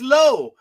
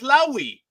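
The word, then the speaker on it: Lowe: The guy's name is low. He said it's low, but then the other jackass pronounces his name as Lowi.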